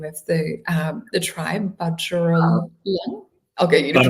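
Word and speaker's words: Bundjalung: you to say the name of the tribe, Budgerong. I'll get you to pronounce it. Bunjalong.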